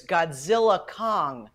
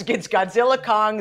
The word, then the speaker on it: Godzilla x Kong: These two titans team up, but the X is silent, according to Warner Brothers. So it's Godzilla Kong, Get the new empire.